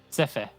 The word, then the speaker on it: Sephe: Oh, it's not Seth, is it? He did tell us how to say it yesterday, and I've already forgotten. Pretty sure it's Sepher. Sephe. Yeah, it was Sephe.